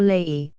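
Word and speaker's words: Lei: high rock called the Le or Le pronounced like our word lie in the rine and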